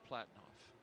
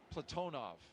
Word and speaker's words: Platonov: Ross Cosmos cosminaut Alleg Platinoff Platonov. I corrected my pronunciation yesterday and I slipped back into Americanizing.